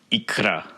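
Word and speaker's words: икра: Let's look at this word, pronounced ikra.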